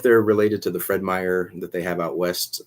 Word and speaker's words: Meijer: um so yeah a little bit different but meyer is a good place to get lego and